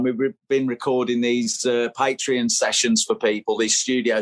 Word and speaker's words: Patreon: this is patreon i was wondering how you pronounce it uh patreon and this is six quid a month at